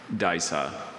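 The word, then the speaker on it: Disa: Daisa.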